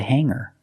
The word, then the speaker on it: hang: I hang my clothes on the hanger. So the word hang, A-N-G, has the long A. Hang, it's not hang, it's hang.